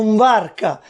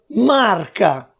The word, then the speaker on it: mvarca: Allo stesso modo italiano in barca, siciliano mvarca, perciò marca.